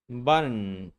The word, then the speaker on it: button: And notice how the t consonant changes to a stop t. The vowel is omitted and then you move directly from the stop t to a salabic n consonant.